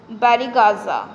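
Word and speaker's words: Barygaza: The Greeks referred to Bharuch as बैरीगाजा.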